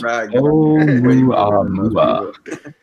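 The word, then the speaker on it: ʻOumuamua: It's pronounced Ohhmouyuama.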